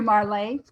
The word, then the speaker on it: Marles: Marley, I think is how it's pronounced. Marles. Looks very French. It does. There he is. Hey, how's it going? Hey, there you go. Oh, Yes. I'm Marley, and I have my